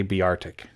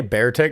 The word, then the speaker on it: Beartic: tick beartic i say be arctic i say bear tech because it's a bear yeah but it's also